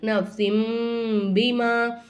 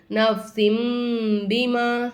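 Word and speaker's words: نفس بما: ஓதுவோமா ஆனா என்ன செய்யக்கூடாது அப்படி ஓதக்கூடாது நப்ஸின் பீமா நப்ஸின் சீனை வந்து மீமா மாத்தி சாரி இந்த தன்வீன் இருக்குல்ல தன்வீனை மீமா மாத்திரனும் நப்ஸிம் பிமா அப்படின்னு நம்ம உச்சரிக்கணும் அடுத்து பாருங்க எனக்கு இந்த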